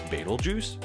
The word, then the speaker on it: Betelgeuse: what is Babel juice are you laughing at the way I pronounce Beetle Juice well that's actually how it's pronounced this is battle juice